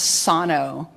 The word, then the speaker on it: Sano: pronouncing our name was Sano. That's how you pronounce it, sort of with a Japanese um interpretation of it.